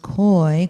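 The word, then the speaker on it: keu: The Indo-European root for hope is koi, K-E-U, but it's pronounced koi.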